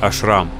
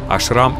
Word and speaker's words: ашрам: Похоже, это просто какой-то ашрам. Ашрам или ашрам, как вы поставите ударение в этом слове, в принципе, неважно. И так правильно.